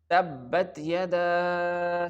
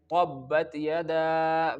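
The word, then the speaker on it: تبت يدا: Here you can only pronounce the letter ta with the light sound, not with the thick sound like letter ta.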